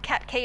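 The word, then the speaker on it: Qatqi: around the world at the moment it's called cat key it's spelt q a t q i it is an unusual one but it's pronounced cat key i double triple checked so basically it's like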